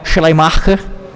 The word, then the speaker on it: Schleiermacher: A pronúncia do nome dele é meio difícil, em alemão é Schleiermacher, mais ou menos isso.